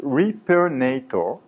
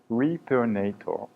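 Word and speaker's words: Repairnator: It's hard to read and to pronounce, I know. It's on purpose. It's Repernator. Repernator. It's a direct reference to a Hollywood movie, Terminator.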